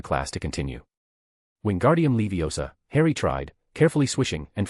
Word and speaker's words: Leviosa: It's Levi Osa, not Leiosar.